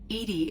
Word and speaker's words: EDI: are you named Edie Edie is the phonetic pronunciation of EDI that is an acronym